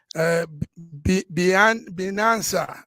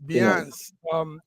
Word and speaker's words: Binance: Binanza, I don't know how you pronounce that word. Update, yes, Binance.